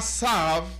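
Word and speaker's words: Tzav: En Parashat Tesav, en Parashat Sav, parece que sería la pronunciación más correcta, en Parashat Sav, HaKadosh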